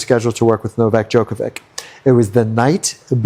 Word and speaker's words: Djokovic: Can you tell that story of, and excuse me if I get his name wrong, the tennis player, Jovovic? Novak Djokovic.